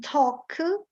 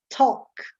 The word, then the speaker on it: talk: Anyway, A followed by L often becomes pronounced as an O. And sometimes some letters are not pronounced at all. In talk, the L doesn't exist in the pronunciation.